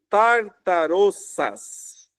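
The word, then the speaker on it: ταρταρώσας: Mas eh você consegue talvez olhar esse termo aqui, tartaroças, é assim que se pronuncia eh a o termo grego, que é traduzido aqui por inferno, OK?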